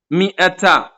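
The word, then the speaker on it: مائة: ചെരി ചെരിഞ്ഞ സുക്കൂൻ ഉണ്ട് ആ അലിഫിനെ ഉച്ചാരണത്തിൽ കൊണ്ടുവരരുത് എന്നാണ് അതിൻറെ അർത്ഥം ഉലു എന്ന വാവിന്റെ മുകളിൽ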